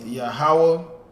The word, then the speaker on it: Yahweh: And the next one is pronounced Yahweh.